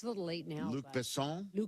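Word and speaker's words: Luc Besson: Luke Besson. Luke Besson. Ah, but how did you I thought I Americanized it. Uh, yeah, she wrote she wrote it's Luke Besson.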